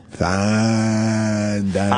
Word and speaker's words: Fandango: You gotta say it right. You gotta make sure you let the A's breathe. Fandango.